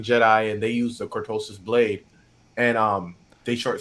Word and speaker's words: cortosis: with the with the ctis qutis I can't pronounce it CIS cortosis thank you cortosis thank you uh as as